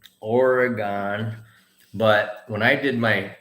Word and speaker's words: Oregon: bought it it says oregon but when i did my teaching in oregon i got corrected it's not from oregon it's oregon oregon oregon but hey look people